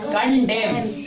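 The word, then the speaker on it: condemn: क्या पढ़ेंगे कंडेम कडेम अब बताओ कंडेम में कौन सा लेटर साइलेंट है? एन लेटर साइलेंट है। ठीक है? तो देखो और एन साइलेंट कब रहता है? जब एम के बाद आता है। अगर एम के बाद एन आ रहा है तो एन लेटर साइलेंट रहेगा। तो इसको पढ़ते हैं कंडेम।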